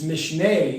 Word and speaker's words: Mishneh: know it was like my my colleagues don't pronounce it right. Mishneh. It's Mishneh.